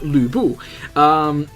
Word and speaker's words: Lu Bu: Lu Bu, or actually the official pronunciation is Lu Bu.